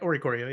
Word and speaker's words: Oricorio: You mentioned what was it, Orikoyo? However Yeah. you pronounce it. I don't know how to pronounce it. That's right, Orikorio, yeah.